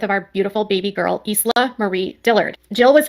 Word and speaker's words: Isla: Isla? I believe it's Isla. And if I had, for avoidance of doubt, there's an Australian actor called Isla Fisher, which is spelled ISLA.